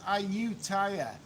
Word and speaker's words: Ayutthaya: It is pronounced Ayutthaya.